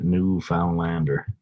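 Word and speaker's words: Newfoundlander: out the navigators and a newfound Lander and that's not how you spell it but that is how you pronounce it yeah Alcorn know which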